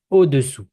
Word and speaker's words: au-dessous: Now we have au-dessus, au-dessous. So above and below. So I don't know if you can hear the difference. I'm gonna repeat, but try to get it.